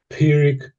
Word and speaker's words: Pyrrhic: So, so pirick victory. Pirick victory. You want to say that? Pirick victory. Oh, yes. That's spot on. And once more. Pirick victory. Once more. Pirick victory.